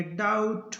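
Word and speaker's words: doubt: तो इस प्रकार एम के बाद बी हो या बी के बाद टी हो तो बी रहेगा साइलेंट, इसको पढ़ेंगे बॉम्ब, इसको पढ़ेंगे कॉम, इसको पढ़ेंगे थम, इसको पढ़ेंगे डाउट और इसको पढ़ेंगे डेट।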